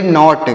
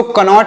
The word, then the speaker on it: knot: KNOT, तो इसे क्या पढ़ेंगे, इसे पढ़ेंगे नॉट। क्या पढ़ेंगे, KNOT, नॉट। इसे पढ़ेंगे नॉट। इसको कनॉट नहीं, नॉट पढ़ना है। यहाँ पर के साइलेंट है, मतलब यहाँ पर भी,